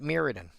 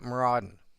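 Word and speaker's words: Mirrodin: a setting in magic spelled M I R R O D I N and almost everybody I know pronounces it Miridan. I have one specific friend who pronounces it Maruden and I've got used to the fact that this is how he pronounces it.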